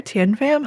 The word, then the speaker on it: Thien Pham: You told me how to say it and I said it wrong. You still said it right. All right. You said it right. Tinfam is perfect.